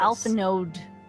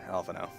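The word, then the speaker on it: Alphinaud: Alright, here's Alphino. This place is phased. Always sounds like you say alpha no. I do, because you don't pronounce the D.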